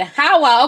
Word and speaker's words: Hawa: You said my name right? Okay, good. Hawa. Okay, good. I'm so glad. I knew the name was African. I'm glad I pronounced it properly.